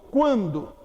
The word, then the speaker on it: quando: Quando. Esse QU de quando forma um dígrafo? Não. Por que não forma? Porque o U é pronunciado.